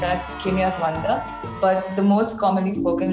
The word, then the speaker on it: Kinyarwanda: Rwandan is not the right pronunciation, Janvi, but then my mother tongue is actually pronounced as Kinya Rwanda.